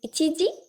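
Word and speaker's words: 一時: The second one is pronounced as ji over here. It's ichiji, 1 o'clock.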